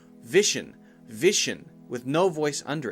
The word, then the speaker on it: Vision: and the G sound so when you say the V sound just like we talked about before make sure that is very clear touching your bottom lip to your top teeth but then immediately you have to go to Gigi now it's not a J sound it's not Jim that's